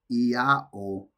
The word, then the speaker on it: IAO: O pronounced Io forms the name of the supreme god of the gnostics and early sect of Christianity.